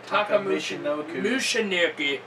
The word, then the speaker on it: Michinoku: How do you say his name again? Michinoku. Like the Michinoku driver.